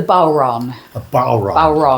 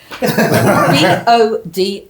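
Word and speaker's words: bodhrán: It's it's the bal. Can you spell it? B O D H R A N. It's one of those weird Gaelic words.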